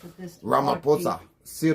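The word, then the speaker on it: Ramaphosa: Actually, PH is pronounced with this. Ramaposa. Sir Ramaposa.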